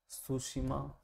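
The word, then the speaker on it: Tsushima: सुशिमा में दोस्तों T silent है। सुशिमा, सुशिमा की जलधारा गर्म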